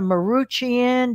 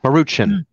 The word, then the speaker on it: Maruchan: So if you could correct me on it, is it Maruchan or Maruchian? Those Maruchan. Maruchan. I think it's called Maruchan lunches.